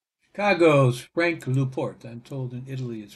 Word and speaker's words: LaPorte: Chicago's ranked luport and told in Italy is pronounced in Newport he was born in 1900 he died in 1972 November 2.